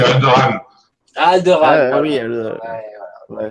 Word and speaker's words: Alderaan: C'est pas comme ça que ça se prononce. Si, il y a quelque chose. Non, c'est Alderaan.